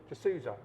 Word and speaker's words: Jesusa: from the Phillipines bull just Souza yes you didn't pronounce as correct it's like basically Jesus what a name yeah